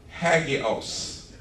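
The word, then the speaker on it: ἅγιος: It's a word that is pronounced, and I'll spell it if somebody's writing, but you don't need to. It's hagios.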